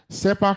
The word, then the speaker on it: CERPAC: SEPAC is spelled CERPAC.